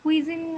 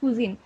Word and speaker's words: cuisine: আচ্ছা আমি একটু বলি Bangladeshi কুজিন is rich কুজিন এটা কুইজিন একদম মানে কুই এভাবে প্রোনাউন্সিয়েশন করা দরকার কুজিন আইটা মানে উজ্জ রাখলেও চলে, হ্যাঁ প্রোনাউন্স না করলেও চলবে।